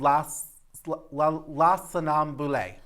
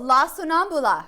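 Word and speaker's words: La Sonnambula: And I want to pronounce it right. Oh, yes. It's called La Sonambule. Oh, La Sonambula.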